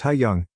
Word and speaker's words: Hayong: high school yesterday after school hayong pronounced ha young came up to me